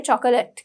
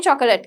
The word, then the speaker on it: chocolate: ලියන්නේ නැහැ, අපි ලියන්නේ chocolate කියලා. එතකොට අපි කියන්න පුරුදු වෙන්නේ chocolate කියලා. හැබැයි ඇත්ත වචනේ ඇවිල්ලා chocolate. Okay, so we've got chocolate. The O is very silent. We don't really pronounce it, right?